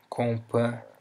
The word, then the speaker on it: companhia: In the case of words that contain LH or NH, the H sounds like an Y, you know? We can have the word companhia.